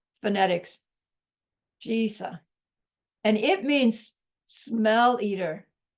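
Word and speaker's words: Drisa: It's spelled D-R-I-S-A, but the D is one of those Tibetan letters that you can't quite tell the difference between a D and a T. So when you hear Geshe say it, it sounds like Trisa. But if you listen carefully, you can hear the D in there too. And then the I is like a long E.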